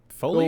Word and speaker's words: foliage: like the little wind icon that says, okay, Foliage? go over here. Foliage, Yeah. foliage. Foliage. It's pronounced foliage.